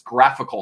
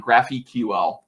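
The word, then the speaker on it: GraphiQL: it's something called graphical everyone mispronounces this it's graphical not graphy ql like a graphical unit interface get it y'all um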